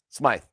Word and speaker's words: Smythe: Is it Smythe or Smith? Smythe. Okay, it's spelled Smythe.